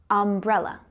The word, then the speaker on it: umbrella: Now, the U in umbrella is pronounced a, umbrella.